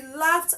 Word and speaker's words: laughed: loved so hard he laughed out so hard he l left to left don't say laugh D it's not D it has a t sound at the end next I have stopped